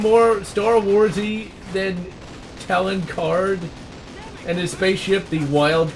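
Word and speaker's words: Talon Karrde: He was a very major character of the Thrawn trilogy, and I pronounced him Talon Parade because I thought, okay, it's, you know, Star Wars, you know, so they have weird sounding names because it's space, right?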